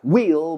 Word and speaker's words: we'll: Se puede contraer will will que suena igual que rueda. We'll miss the train.